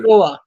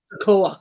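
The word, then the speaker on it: Sikoa: I don't even see Solo Sequoia or Sequoia. How do you say it? Sequoia? Sokoa. Sokoa.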